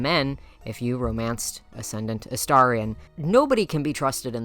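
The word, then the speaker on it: Astarion: also romances Gortach and ascendant Aarion or sorry Aarian as I know some people will for some reason only fixate on the fact that I said it wrong the first time. So there I fixed it for you.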